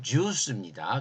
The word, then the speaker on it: 제우스: 우라노스 하면은 헬라 세계에서 제일 그 우상 중에 제일 큰 게 제우스고 사실 발음은 듀스입니다. 근데 그냥 우리는 제우스라고 그러니까 제우스고 그 아버지가 크로노스고 그 아버지가 우라노스예요.